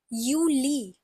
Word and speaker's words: Juli: it's pronounced as uni then we have July again it starts with the J and it again has a y sound so it's pronounced as you e next we have August